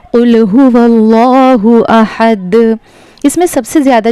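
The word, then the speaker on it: قُلْ هُوَ ٱللَّهُ: कुल हुवल्लाहु। अब यहाँ पे एक गलती जो होती है, इसको पढ़ते हैं कुल हु अल्लाहु। ये गलत प्रोनाउंसिएशन है। यहाँ पर वाव लाम ज़बर वल पढ़ा जाएगा, वाव लाम ज़बर वल।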